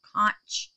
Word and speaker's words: conch: I wish my little Cox's conch Koch that's how you say it conch shells would stay